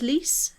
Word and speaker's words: Lis: Is it pronounced Lis? Is that right? Yes.